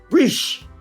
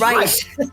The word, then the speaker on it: Reisch: You can pronounce it. It's Reisch. It's Reisch.